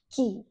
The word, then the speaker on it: Qi: From Chinese point of view, they call it as Qi, Qi, Qi, whichever way you want to pronounce it.